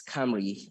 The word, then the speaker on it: Cymru: cyber security Space Team C is C is pronounced as Camry uh it's a wellish word uh the founders